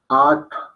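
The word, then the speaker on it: आठ: Ese es ta, puesto la lengua enrollada y soplada. At. At. Esa, por ejemplo, ahí es donde la marrana tuerce el rabo, porque pues esa ta no tiene representación para nada en el español.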